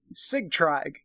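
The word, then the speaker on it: Sigtrygg: this spy to Kay cig Tryg we're gonna pronounce that cig Tryg because it's spelled SI GTR ygg cig tried so yeah that's what we're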